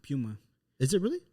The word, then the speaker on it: Puma: and then I worked at Puma Puma it's pronounced Puma is it really not a lot of people know that but it's Puma but it's not Puma it's Puma what the yeah the managers